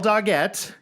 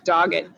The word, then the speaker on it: Doggett: we're welcoming today daguette did i say the last name right by the way is it dogette you said it way nicer than it's actually pronounced which is just dogged dog it nice but